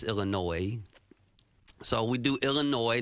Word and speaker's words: Illinois: It's not Illinois. There's no noise in Illinois. It's silent. It's Illinois. So we do Illinois, not Illinois.